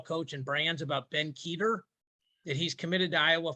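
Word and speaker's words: Kueter: and brands about ben keter that he's committed to iowa for both sports so i will tell you this i pronounced his name cuter two months ago when i was doing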